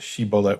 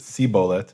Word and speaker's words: shibboleth: So we can't assume that, you know, in the in the Tanakh we have the switch between some Israelites pronounced it shibboleth, we're told, and some pronounced it sibboleth.